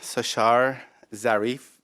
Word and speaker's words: Sashar Zarif: in your presence my name is sushar Zarif Rothenburg Tabriz Mia it's spelled al I are easy ASAS H AR